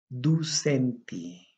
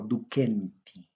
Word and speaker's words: ducenti: Ducenti. Otros lo pronuncian como Duquenti.